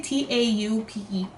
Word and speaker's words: taupe: top a top top how do you say t-a-u-p-e taupe tinted taupe um number 355 from their